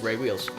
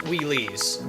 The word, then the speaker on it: Wheeles: I don't know if you guys know this, but my name is Ray Wheels. Last name. It is not pronounced Wheelies, just so you know.